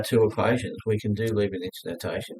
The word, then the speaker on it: Leibniz: Now, the chain rule is Leibniz notation.